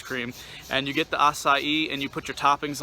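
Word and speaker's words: açaí: up I've had a couple times um is acai is how they pronounce it uh it's a c-a-i we have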